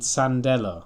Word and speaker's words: Sandela: to the sandwood girl you're called sandela well that sounds a bit like sandal doesn't it and my name is